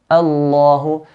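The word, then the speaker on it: الله: Is that we make lam in the word Allah heavy all the time. Whenever the word Allah starts in an ayah, make it heavy all the time.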